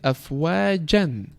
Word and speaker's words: أَفْوَاجًا: So before it was afwajan when we didn't stop on it, and now when we stop we say afwaja, extending the haraka to the 2 points.